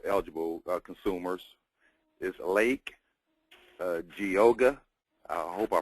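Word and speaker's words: Geauga: 32,000 uh dual eligible consumers is Lake uh googa I hope I pronounced that right uh kyoga how is it pronounced gaga gaga okay Lorraine and Madina are the counties in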